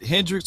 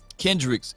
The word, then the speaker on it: Kendricks: you can say, okay, was it Hendricks or Kendricks? How you say his name? Is it with a K? Kendricks? Kendricks.